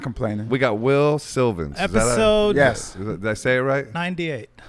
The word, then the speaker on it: Wil Sylvince: we got Wil Sylvince. Is that Episode Yes. did I say it right? 98. Episode 98, Wil Sylvince. Wil Sylvince.